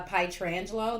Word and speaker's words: Petrangelo: that say petrangelo uh pie tarantulo that's how you say her name but she states that